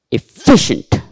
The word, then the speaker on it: efficient: Efficient. Upper stress is here before fee.